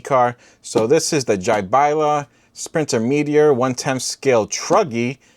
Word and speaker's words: Jiabaile: A quick lesson in how to pronounce this. What? This is not Jiabaile, it's not Jiabaile, it's not whatever you guys are saying. This is Jiabaile. Jiabaile.